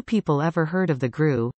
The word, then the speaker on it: GRU: ever heard of the gru an acronym pronounced like the english word grew yet the military intelligence